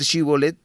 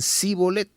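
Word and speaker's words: שִׁבֹּלֶת: tenían esa característica que no podían pronunciar bien esa palabra Y en vez de decir shibolet decían Sí bolet si la persona no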